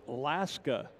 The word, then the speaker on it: Laska: the white unicorn is laska the unicorn i hope i pronounced that right l-a-s-k-a like alaska without the uh at the front there you go so